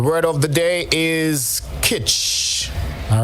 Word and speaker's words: kitsch: let's go the word of the day is kich all right it's a noun and it's spelled k-i-t-s-c-h kitsch is something that appeals to